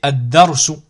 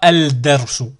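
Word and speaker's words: الدرس: Ici, ad-darsu. Je dis pas al-darsu. Je prononce pas le lam.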